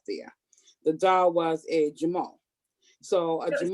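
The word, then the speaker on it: Jumeau: that was left there the doll was a jamal so i just said that again how do you spell it it's j-u-m-e-a-u a story amazing story so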